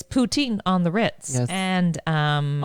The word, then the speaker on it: poutine: throughout the world it's petite oh yes it's poutine on the ritz and um often mispronounced yes i know it's also close to